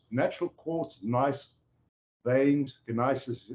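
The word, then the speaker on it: gneiss: courts nice veins in Isis as they spell it g-n-e-i-s-s and um so these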